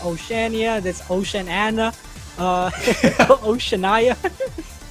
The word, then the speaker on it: Oceania: That's Oceania.